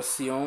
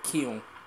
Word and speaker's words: Kion: É que eu pronunciava Sion, mas a pronúncia certa é Kion, que eu vi num vídeo mais à frente.